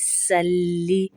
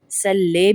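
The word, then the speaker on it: صَلِّ: اللہم۔ اور یہاں پر ہم دوسری غلطی کیا کرتے ہیں؟ سلی، سلے بھی پڑھتے ہیں، لے بھی ہماری غلطی ہوتی ہے، اور لی صاد کو سین میں تبدیل کر دیتے ہیں۔ دیکھیں سلی نہیں، سلے، سلے اس طرح ہم پڑھتے ہیں۔ ہم موٹا کر کے پڑھیں گے صاد کو، سلی علی۔ یہاں پر اب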